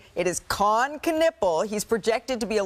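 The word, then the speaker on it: Kon Knueppel: We all need to pronounce his name together correctly. It is Con Knippel.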